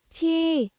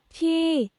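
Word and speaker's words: ที่: ท ี ่ En fait, elle a baissé le ton. Et si on ne le mettait pas, écoutez, ท ี ่ tandis que si on met le marqueur de tonalité, il va baisser le ton.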